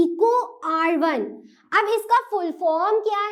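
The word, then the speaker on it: EcoRI: अब कोई इसको ऐसा नहीं पढ़ेगा E.CO को लिखा है, फिर कुछ R लिखा है, फिर ये फर्स्ट लिखा है, नहीं, इसको प्रोनाउंसिएट मतलब इसका उच्चारण, इसको बोलना किस प्रकार से बोलते हैं, इसको बोलते हैं इको R1।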